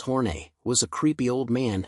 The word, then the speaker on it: Horn: Another of his characters, Tyrone F. Horn, pronounced Horne, was a creepy old man who spent every episode unsuccessfully flirting with Ruth Buzzi's character, Gladys Ormphby.